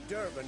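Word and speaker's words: Dervan: It's Durban now. D-E-R-V-A-N. Not Goidemar. But, what do you mean? I know what they named you at your cutting. What kind of name is that anyway? Durban.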